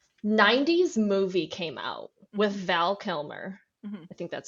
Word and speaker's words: Val Kilmer: Well, I actually found this article that what it was when the 90s movie came out with Val Kilmer. I think that's how you pronounce his name.